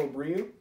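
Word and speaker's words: Abreu: race against Canon McIntosh Kyle Larson and Rico Abril that's how you pronounce his last name tonight we the final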